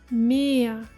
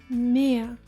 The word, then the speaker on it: Meer: Double E, as in Meer. Meer, meaning sea.